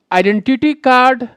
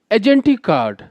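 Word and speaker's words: identity card: तो इस तरह से हमारा जो सही प्रोनाउंसिएशन होगा वो होगा आइडेंटिटी कार्ड, ना कि होगा एजेंटी कार्ड.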